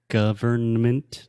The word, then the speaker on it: government: room no I'm saying you don't need to pronounce the end although we write the word government with an in when we speak we simply say government government yeah but if we